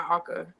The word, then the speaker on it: Aka: My grandma, I call her my Aka. That's how you say it in the Inupiat language.